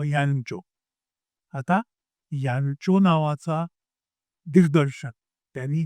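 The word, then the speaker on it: Jancsó: यांचो हे त्याचं स्पेलिंग वाचल्यानंतर JANSCO म्हणजे जान्स्को. जान्स्को नाही, त्याचं नाव यांचो.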